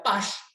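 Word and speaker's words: Paasche: Entonces aparece otro muchacho que se escribe Pache, pero se pronuncia Pash, ¿sí?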